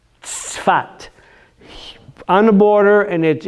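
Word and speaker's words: צפת: It says Safad in English, but it's you know that tzaddik? That city is Tzfat.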